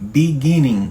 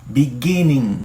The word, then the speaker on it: beginning: E tem um G no final, né? Então não é beginning. G. Você não fala G no final. É o G. É meio meio mudo. In the beginning. Tá vendo? Eu não falo G.